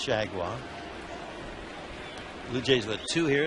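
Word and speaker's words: Chargois: h a r g o i s correctly pronounced shaguar Blue Jays with two here in this seven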